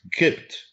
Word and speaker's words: Copt: So that the Gypt is Kipt. Good. Yes. That's how the Arabs pronounce this.